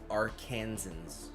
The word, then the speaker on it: Arkansans: For the record, it's pronounced Arkansans.